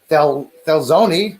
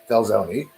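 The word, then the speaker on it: Thelxinoe: death 2003 j13 j18 j2 there is fel felzoni which is spelled t-h-e-l-x-i-o-n-e felzoni there is youth annie there's s-2017 j17 j7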